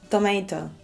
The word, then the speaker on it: tomato: Tomato. Tomato. Tomato. Tomato. Tomato! Tomato! American pronunciation, tomato. British pronunciation, tomato.